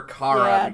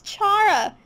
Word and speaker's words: Chara: It's Chara. It's like Charmander.